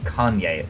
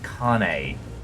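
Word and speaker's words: Kainé: Not Kanye. Kane.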